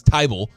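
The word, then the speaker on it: Thybulle: go for it but Matisse tyville uh with the silent h has decided that uh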